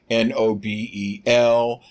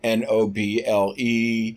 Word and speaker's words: Nobel: Anything to distract, but he wants to win the Nobel Peace Prize, which apparently the Republicans don't have the correct pronunciation of Nobel, Nobel, not Noble.